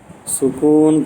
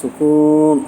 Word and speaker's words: சுகூன்: சட்டங்கள் இத்ஹாம் என்றால் என்ன சுக்குூன் பெற்ற நூல் ஆனா பேச்சு வழக்குல சுக்குூன் சுக்குூன் சொல்லுவோம் அதனால சுக்குன் அதை சுகூன் அப்படின்னு சொல்லணும் அதை மாத்திக்கணும் எல்லாருமே இப்படித்தான் சொல்லுவோம் இதுக்கு சுக்குன் இருக்கு சுகூன் இருக்குன்னு சொல்லணும் அசல் உச்சரிப்பு சுகூன் சுகூன் பெற்ற நூல் அல்லது